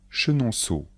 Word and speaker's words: Chenonceau: château de chambor Blois le château de Blois Chenonceau le château de Chenonceau Amboise le Château d'emboise